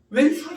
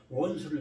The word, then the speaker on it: 원수: 근데 요즘은 기쁨이 아니라 왼수가 돼버릴 수도 있다. 사실 발음은 잘못한 거죠. 왼수라는 거는 원수를 좀 더 강하게 얘기하니까 왼수라고 얘기하는데 일반적으로.